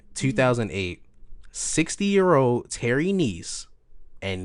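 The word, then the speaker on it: Kneiss: 60 year old Terry Niece and niece is spelled k-n-e-i-s-s no it is not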